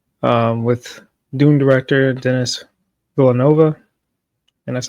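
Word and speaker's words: Denis Villeneuve: All right, this is from Jos Wilding um with Doom director Dennis Villanova, and that's how you say his name, at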